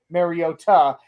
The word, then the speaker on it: Mariota: Apparently, according I don't know if you watch Good Morning Football, apparently Manti Manteo confirmed it is supposed to be pronounced Mariota.